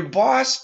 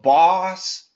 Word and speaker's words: boss: And this one, more AW sound. And your boss, too. Your boss was not too bad, but both of these are AWs.